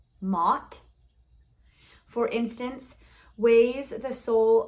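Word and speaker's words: Maat: idea the Egyptian goddess m-a-a-t I'm going to pronounce it Mott for instance weighs the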